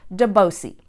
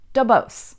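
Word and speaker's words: Duboce: familiar with English names you'll probably want to pronounce it de bois C but here in San Francisco we pronounce it DuBose it was named after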